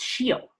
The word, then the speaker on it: scio: I don't know if it's skivi, but in Church Latin, it's like, no, it's scio.